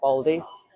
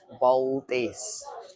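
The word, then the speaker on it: paldies: Baldies. Baldies.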